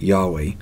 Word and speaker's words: Yahweh: Most scholars believe God's name was originally pronounced Yahweh.